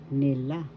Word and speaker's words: nila: Nila that means they first syllable ni second syllable la nila. Second syllable has the accent and that means they kaill ka first syllable